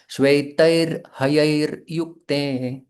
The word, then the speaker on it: श्वेतैर्हयैर्युक्ते: तो जब रेफ होती है तो उस शब्द, उस अक्षर के पहले र का उच्चारण होता है, बिल्कुल हल्का। श्वेतैर हयैर युक्ते।